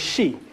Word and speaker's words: Xi: as the she people she x-i that's that's how x-i is she that's how it's pronounced within um the omac tongue so the sheep people